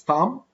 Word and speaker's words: thumb: the hand I mean finger thumb rest don't pronounce the W in the rest or the B in the thumb okay this is Tom as I have just said because after the